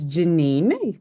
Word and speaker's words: Janine: Is it Janine? Am I saying it right? I feel like I'm gonna hate myself if I said it wrong. It's Janine, so congratulations.